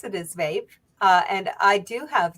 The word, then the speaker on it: VAEP: so it's an acronym and uh you can pronounce it is Vape uh and I do have dyslexia so it